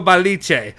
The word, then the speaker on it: Balice: And the person who reported this, and I'm going to say it right, was Nico Balice.